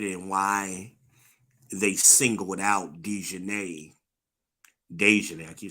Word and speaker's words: Daejhanae: Now, I'm also interested in why they singled out Daejhanae, I keep saying Daejhanae. Um, Not gonna call her Deion Sanders, like shout out to lead attorney. Not gonna do that. Daejhanae listen to me.